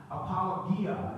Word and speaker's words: apologia: defense and that's the word apologia apologia if you pronounce it in Greek it means defense it's